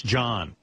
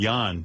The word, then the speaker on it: Jan: And by the way, tell Jan it's John in this country. J-O-N is John. It's Danish. Well, whatever. This is America, pal. Jan is Y-O-N. Right. Here in America. You want to be Jan, it's Jan.